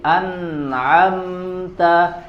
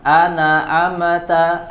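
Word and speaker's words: أنعمت: maka tidak boleh diqalqalahkan jadi anamta jangan anaamta anaamta ya tidak boleh harus jelas sukunnya wahris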